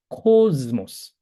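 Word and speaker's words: κόσμος: 근데 두 번째 단어는 미 앞에 시그마가 있으니까 코즈모스, 코즈모스 이렇게 했습니다. 어, 좀 정확하게 읽으면 코즈모스. 이제 단음이기 때문에 코즈모스 이렇게 읽어요.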